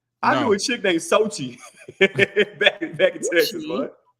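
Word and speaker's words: Xochitl: I knew a chick named Sochi back in Texas, man. Yeah, it spelled like XOCHTL, something like that. Sochi.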